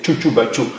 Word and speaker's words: Tchoutchoubatchou: C'est juste qu'ils ont la paresse de prononcer peut-être, sinon c'est pas difficile, c'est Tchoutoubachou.